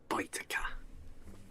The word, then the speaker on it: Baetica: And I build a mustard field in Baetica. Baetica. Baetica. Baetica. The AE is pronounced I in Latin.